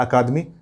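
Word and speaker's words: Academy: ACA एकेडमी या अकादमी, या कुछ जगह द एकेडमी मिलता है, ये उच्चारण भी मिल सकता है आपको, द, ये भी मिल सकता है।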